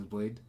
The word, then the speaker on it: bladee: i can call it blade or whatever i want how it's pronounced he pronounces this blade so i'll call it